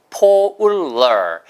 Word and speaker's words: polar: polar. 이건 똑같아요. 아까 나왔던 solar 거기랑 발음이 똑같습니다. solar, so 대신에 polar. 해보세요. polar. 폴라가 아니에요. 폴라가 아니고 polar예요.